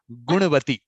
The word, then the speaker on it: Gunavathi: i keep telling you your name is actually gunavati guru means you have very good i mean